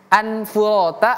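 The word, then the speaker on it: مَاءً فُرَاتًا: Perhatikan anfurata menjadi anf. Anfu namanya ikhfa ya. Namanya ikhfa. Ikhfa itu artinya samar-samar. Oke. Samar-samar. Jadi dia tidak jelas mau ke an, mau ke fa, mau anfurata atau afurata, tapi anfurata.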